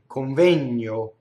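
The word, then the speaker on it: convegno: You couldn't get caught keeping your bottom lip there in place of the N. But that's how fast somebody would speak it. Coŋvegno.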